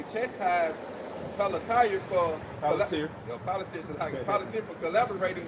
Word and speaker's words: Palantir: They say expressed their frustration with Palatine, like you said. Palantir.